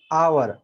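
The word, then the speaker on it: hour: और एक example an आवर तो यहां पर हम एच साइलेंट बोलते हैं ठीक है एच यहां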